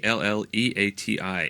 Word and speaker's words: Alleati: I think everything with glee. It's more Glee. Oh, Glee. Okay. But it's not glee. It's Eliti, and it's like glee. Alleati.